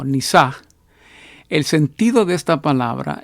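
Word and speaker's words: נִסָּה: La palabra prueba, que se pronuncia en el hebreo algo así como nisaj.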